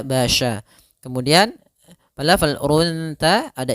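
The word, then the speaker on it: بشر: Kemudian selanjutnya pada lafal basya, hati-hati dalam pelafalan sya-nya harus dibaca dengan shin bukan sin, bukan basarun tapi dia basya.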